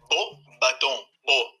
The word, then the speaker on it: Beauxbatons: Então, Emerson, a pronúncia da escola é Beauxbatons.